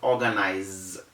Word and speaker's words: organize: the s in it whether you have the s or the z anyways the pronunciation is still organized because when it is